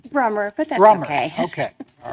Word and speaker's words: Brummer: Did I pronounce that correctly? Brummer, but that's Brummer.